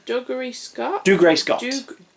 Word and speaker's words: Dougray Scott: Dougray Scott. Dougray? Dougray Scott.